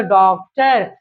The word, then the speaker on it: डॉक्टर: अब पढ़ डॉक्टर डॉक्टर ये डॉक्टर नहीं है। ये अनुनासिक नहीं है। ये गलती मत कीजिएगा। ये आगत है। ये औ उच्चारण के लिए है। तो ये पढ़ा जाएगा डॉक्टर।